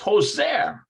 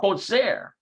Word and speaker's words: חוזר: It's Hoser. הוא חוזר בבית הספר. Let's pronounce Hoser.